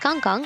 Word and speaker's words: KangKang: So KangKang's in-game name is actually this ZMJJKK, not ZMJKK, and it's pronounced KangKang or KK.